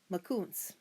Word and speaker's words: Makoons: You say Makoons like this. Makoons.